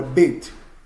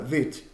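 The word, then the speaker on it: ב: Com o pontinho dentro, a pronúncia é dura, Beit. Sem o pontinho dentro, a pronúncia se torna branda, Vet, Vet.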